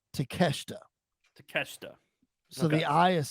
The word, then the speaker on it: Takeshita: me the pronunciation of his name and it's takeshita takeshita so the eye is silent if they were correct it's takeshita takeshita okay well he is like right now